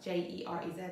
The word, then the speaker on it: Jerez: And sherry is produced in the most southern part of Spain, in Jerez, and that's spelled J-E-R-E-Z, so Jerez, near Cadiz.